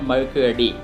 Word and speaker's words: Mercredi: तो ये एक मैसेंजर गॉड है, और इसके फ्रेंच में बोलते हैं मर्करेडी, MERCREDI, मर्करेडी इसको बोलते हैं।